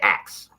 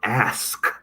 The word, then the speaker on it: ask: what i'm from detroit every time i try to say the word ask it sounds like i'm saying acts so i over pronounce it ask you know and i